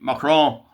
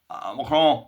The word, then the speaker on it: Macron: Molly, you see the photograph there of uh Bridgie Bridgie Mron Mcron, you don't pronounce the N.